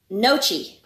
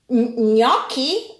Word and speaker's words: gnocchi: Nochi. What it is? Yeah. Nochi. Gnocchi? Oh. Okay, let's do it again. It's a gnocchi. Gnocchi. Yes. Nochi. Nope. Gnocchi. Go, gnocchi, gno.